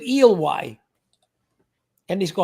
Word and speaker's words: Ely: Oh, it's Ely. We pronounce it Ely.